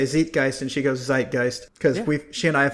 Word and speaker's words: Zeitgeist: to go and ask my girlfriend how to pronounce Zeitgeist. Because your knee jerk is to say Zeitgeist.